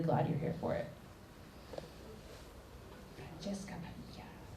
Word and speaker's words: Francesca Padilla: Francesca Padilla. That's how you say it with spice.